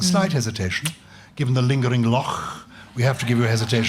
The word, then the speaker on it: Loch: You're correct in the pronunciation of Loch, Gyles, because that's the way we do it in Scotland.